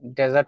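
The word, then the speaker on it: desert: ডিজার্ট যদি আপনি উচ্চারণ করেন এটা হচ্ছে মিষ্টান্য। আর যদি ডেজার্ট উচ্চারণ করেন এটা হচ্ছে মরুভূমি।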